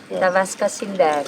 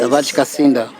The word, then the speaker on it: Tavares Kacinda: Tavaska Sindar. yeah, it's Tavares. Tavares Kacinda.